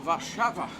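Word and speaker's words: Warszawa: so that'll be good we're since celebrating warsaw varshava a shower is polished pronunciation of what we pronounce what's not in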